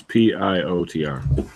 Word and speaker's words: Piotr: Well, how do you pronounce P-I-O-T-R? Piotr. Well, you can call me Peter, no problem.